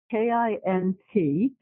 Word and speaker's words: Kintsugi: Kintsugi. Kintsugi. Thank you. There's no T in it. I don't pronounce the T.